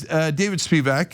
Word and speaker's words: Spevak: Joining me now is David Spevak. He'll tell me if I pronounce that right in a second.